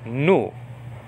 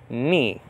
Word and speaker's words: nu: okay that end is called in biblical greek nu like nu that's the name of it and then in modern greek it's called knee like you you know hurt your knee like that but we're